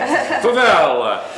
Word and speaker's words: Favela: Favela. There you there, go. if I say it like an Italian, I could get it. I got to get my hands going. Favela.